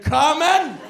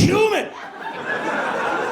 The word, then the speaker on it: cumin: some Ritz Crackers and 'come-in'?" And like clockwork, he comes out of his room. "Hey! What the fuck? "It's cumin.